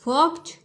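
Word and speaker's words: walk: एंड वक वक एंड वक य एल साइलेंट होता है ठीक है इसलिए हम य बोलते हैं हम सिर्फ डब्लू ए और के ये पढ़ेंगे वक और ईडी के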